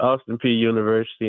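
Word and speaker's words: Austin Peay University: Is Austin PA how do you pronounce the college you went to? It's Austin P University in Clarksville, Tennessee.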